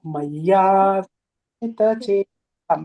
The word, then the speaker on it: मय्यावेशितचेतसाम्: You have to pronounce as a she, like a she, shita. Maya veshi, not si.